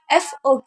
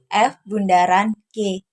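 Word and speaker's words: f∘g: biasa disebut dengan Bundaran jadi bacanya bukan fog ya tapi f Bundaran G pada fungsi komposisi terdapat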